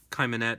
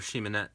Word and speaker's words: Cheimonette: new this is the khaimah net or Shema net Tarot I've heard of pronounced both ways um there are walkthroughs